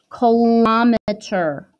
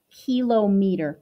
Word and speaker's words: kilometer: last flap which is kilometer kilometer so kilo meter but it's pronounced kilometer ki l om e